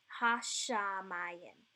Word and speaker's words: Hashamayim: That's why it's read Hash and then Shamayim, right? Hashamayim. So I'm pronouncing the shin, that SH sound, 2 times.